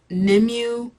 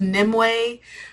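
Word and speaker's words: Nimue: at this point um I was calling her nimu but I guess her name is it's pronounced nimway so now when I'm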